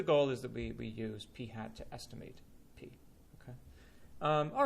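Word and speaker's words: p̂: this guy right here that's pronounced P hat it's like a p with a little hat on top of it that is the sample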